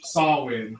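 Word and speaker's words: Samhain: I don't really Sam, but um which is short for Sawin, but it's spelled Sam Hank.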